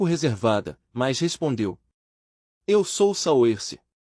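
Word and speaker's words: Saoirse: Ela pareceu um pouco reservada, mas respondeu: "Eu sou Saoers, pronúncia-sear show.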